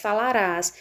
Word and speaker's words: falarás: Aqui nós temos também a presença do S, falarás. E vejam que é uma palavra que apresenta a última sílaba tônica, falarás.